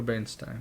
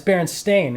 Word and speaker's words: Berenstain: Berenstain Bears? Or Bernstein, yeah. No, it's Berenstain. It's spelled with an A.